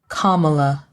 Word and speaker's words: Kamala: was a white woman you can put forth the effort to say three syllables BR black talking about